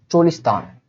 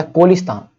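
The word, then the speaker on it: Cholistan: एक जगह है चोलिस्तान या कोलिस्तान, चोलिस्तान बोलते हैं, कोलिस्तान बोलते हैं, दोनों, ये दोनों नाम ध्यान रखिएगा, कोलिस्तान या चोलिस्तान, जैसा भी इसका उच्चारण कर लीजिए।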